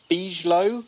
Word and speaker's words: Bigelow: Now, is it pronounced Robert Beaslo or is it Bigalow? I think we're going with Bigalow. I think we're going with Bigalow.